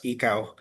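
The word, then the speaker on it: ICAO: uh like to share also the um uh organization which is under also United Nation the ICO international or others pronounce it as as as ECA international civil aviation organization.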